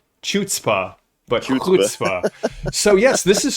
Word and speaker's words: chutzpah: learned that word and i mispronounced it for years until i met a friend who spoke enough yiddish to say it is not chutzpah but so yes this